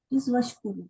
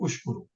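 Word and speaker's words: واشكروا: In case there was no waw, it will be ushkuru. Okay. Yeah, it is washkuru. Yes, Hamzat wasl is silent. But if there was no waw, it will be ushkuru.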